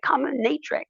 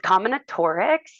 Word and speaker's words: combinatorics: And so sometimes people will be like combinatrix, right? Or whatever. But it's combinatorics.